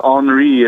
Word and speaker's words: Henri: of the name is it hre is it Henry is it hre it's hre right it's on you think of it as enri it rhymes with en we so yeah sh okay